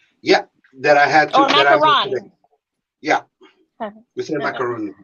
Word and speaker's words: macaroon: that i had yeah macaroon macarons how do you say it yeah the one like you're talking about is macaron the one with the coconut is the one with coconut is macaroon no um oh hold on